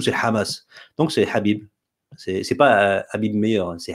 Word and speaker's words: Habib: Donc c'est Habib.